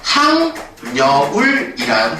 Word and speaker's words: 학여울: 동화가 일어납니다 그러면 최종 발음이 어떻게 되는 거냐면 항 여울이는 발음을 하겠죠 그래서 최종 발음이 하 여울이 아니라 학여울이